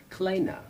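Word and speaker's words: Kleene: A gentleman named Stephen Klein was developing them. Kleina. Stephen Kleina. Ah. I learned from some Europeans last fall how to pronounce that properly.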